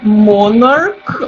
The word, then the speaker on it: monarch: Agora, quando eu falo monarch ou stomach, esse CH do final, ele não tem som de sh, ele tem som do K, né? É o mesmo som que se ele terminasse com o K. Se a gente fosse escrever ali fonético, ia ser um Kzinho, tá? Então, nesses casos, eu vou dizer one monarch, mas eu vou dizer two monarchs, porque vale como se tivesse escrito um K, vale pelo som.